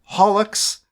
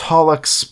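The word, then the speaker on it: holoX: of music the most recent JP generation was holux which is spelled Hollow X but it's pronounced holux because Yago doesn't know how English Works uh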